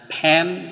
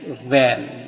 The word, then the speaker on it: van: Nah, untuk pengucapan V itu antara sela-sela bibir dibuka tuh van. bukan pen, bukan fan, tapi van, ada anginnya ya.